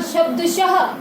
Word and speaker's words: शब्दशः: उसके बाद शब्द है बेटा शब्दशः। शब्दशः ये जो दो बिंदी होती है बेटा, ये हमारी विसर्ग होती हैं और इनका जो उच्चारण होता है वो हर की तरह होता है।